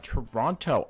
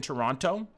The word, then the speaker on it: Toronto: Did Johny just pronounce the second T in Toronto?